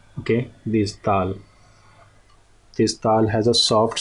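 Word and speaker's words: دال: So dal is, it in English language it can be pronounced as dal. Okay, the only alphabet which resembles to this alphabet in English language is dal, D. Okay, so D has a strong sound, but this dal, dal.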